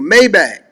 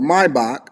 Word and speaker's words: Maybach: collection of vehicles including a mayback or Maybach as some people like to say it properly a Mercedes Sprinter a